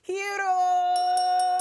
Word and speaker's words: Hierro: mi primo favorito, Hierro. Oh, thank you, OG. You actually pronounced my name right, which is the reason why I go by H.